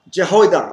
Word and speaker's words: Jehoiada: Jehoiada. Okay, how will you pronounce it?